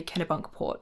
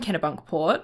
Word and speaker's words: Kennebunkport: I had to look up how to say Kennebunkport, and I'm pretty sure I said it right.